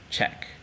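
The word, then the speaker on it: cek: the Indonesian alphabet so the letter C in Indonesian is always pronounced as ch ch H as in Czech so the word Czech in Indonesian is written as c e k in English check all right the letter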